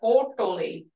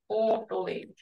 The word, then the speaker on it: hotoli: Like I said, hotoli. Hotoli. It's not hotoli. Hotoli. And that's when we're trying to emulate the speakers on how to say it, how to pronounce it, and catch that special